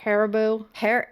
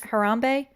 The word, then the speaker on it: Harambe: Haribo. No, that's Harambe. Harambe. Harambe? Yeah. And remember how people were like, tits out for Harambe? Poor Tits Harambe.